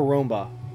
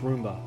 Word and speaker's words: Roomba: it for that level wait is it roomba or romba oh maybe it's pronounced roomba oh yeah because okay yeah it'd be roomba i'm sorry i've been saying it wrong i'm sorry i don't